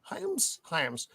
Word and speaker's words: Hyams: Hyams.